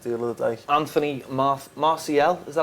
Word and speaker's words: Martial: Anthony Martial, is that how you pronounce Perfect. it? There you go. Martial.